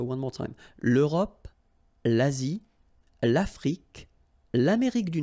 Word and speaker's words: l'Afrique: L'Afrique, same thing here. Final E, it's only the k at the end that you will hear.